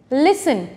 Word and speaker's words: listen: Listen, switch, often.